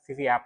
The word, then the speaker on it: VVUP: aku juga pengin lihat VV app ya VV app ini kan ee salah satunya bacanya bbap Ya bbap ya bacanya bbap vvap eh vvap itu kan